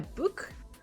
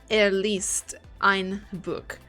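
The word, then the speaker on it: Buch: least at least Ein book the CH must be pronounced like the r of rat I'm trying to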